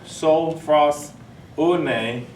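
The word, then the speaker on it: sophrosune: And gentleman put up here a while ago, that word is, the actual pronunciation is sophros une.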